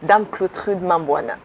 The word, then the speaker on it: DAME-CLAUTRUDE MAMBOUNA: Yeah, but I want you to pronounce it again to the viewers. Okay, I respond in the name of DAME-CLAUTRUDE MAMBOUNA.